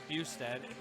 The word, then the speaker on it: Bustad: Matt Bustad, I was mispronouncing his name, Bustad, from Parabellum, has a wrestling background, says his style is fighting style.